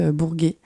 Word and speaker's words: Bourguet: mais en gros moi je m'appelle Bourguet ça s'écrit B o u R g u e t et bah oui c'est important parce que sinon ça fait Bourger et ça on l'